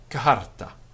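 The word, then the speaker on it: charta: And we have T followed by H, ter, and we have letter C followed by H, not pronounced as ch, but as k, a soft breathing afterwards. So we say kaharta, for example, philosophia, philosophy.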